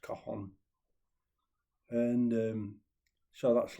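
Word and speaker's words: cajon: mainly I'd play like a box drum called a Kahan spelled C A J O N but pronounced Kahan.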